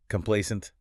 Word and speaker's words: complacent: Complacent. The stress is on the middle syllable.